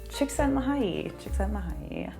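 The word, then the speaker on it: Csikszentmihalyi: now i will never forget how to say shiksen mahay that is who founded this all right so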